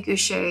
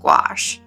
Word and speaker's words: gouache: gouache i always say goucher and it's actually pronounced gouache i just don't like that word gouache it sounds like squash and i hate eating